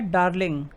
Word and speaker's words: डार्लिंग: मुरे रिवर की एक और ट्रिब्यूटरी है जिसका नाम है डार्लिंग, DARLING।